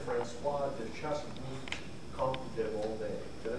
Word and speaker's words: Volney: I tried to say it like a French accent. It's like Steve Martin, because you can speak any language, just speak English with the accent.